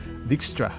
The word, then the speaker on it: Dijkstra: So according to, how do you pronounce the name? Eudz. Dijkstra. Simplicity is prerequisite for reliability. So Dijkstra is actually a Dutch computer scientist and early pioneer in many research areas of computing science.